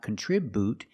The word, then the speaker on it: contribute: The first syllable is not stressed, so we make the short sound. Contribute. Then for the second syllable, we have TR, and TR makes the ch sound like chicken, plus the R together, contri. The I after TR is a short I, so we make the sound I like this is. Together, contribute. Remember, the BU is not boo, it's not contribute, it's contribute. Make the U sound.